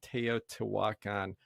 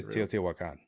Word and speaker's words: Teotihuacan: And then they actually, spelled this out like phonetically, and then it says it's Teotihuacan.